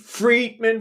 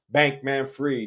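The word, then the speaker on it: Bankman-Fried: bankman free now freed Friedman Friedman is it looked like fry but if you ask him he's going to say his name is Sam Bank Manfred he's a bank man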